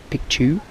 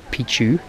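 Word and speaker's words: Picchu: like a photograph picture piku is how you pronounce it not Pichu which means penis in um in the native dialect um so all the tourists come here saying matchu pitu which means old penis thought that was pretty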